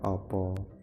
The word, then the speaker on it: apa: Nah, apa A dalam bahasa Indonesia, kalau di dalam bahasa Jawa itu A dibaca O. Jadi tulisannya sama, tulisannya sami. Apa Indonesia, apa Jawa itu bacanya opo. Jadi A itu dibaca O, opo.